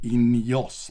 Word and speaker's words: INEOS: taking over the whole world which we call ineos now getting to the end now getting to